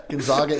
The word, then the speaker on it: Gonzaga: Gonzaga in Spokane. Yeah, that's how you're supposed to pronounce it.